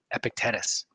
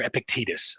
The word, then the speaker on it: Epictetus: This is a quote from Epictetus or Epictetus. I actually looked up the pronunciation.